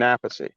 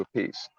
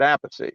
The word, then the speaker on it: Appice: joined Rod Stewart and Rod kept hearing all different pronunciations so he finally said uh what do I call you you know there's all these different PR pronunciations and uh you know a ace ay so K just said just say a piece so that's when he changed it to a piece but my father said apathy so I stayed with